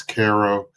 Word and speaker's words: Cairo: to what is called Caro. It's spelled like Cairo in Egypt, but it's Ko.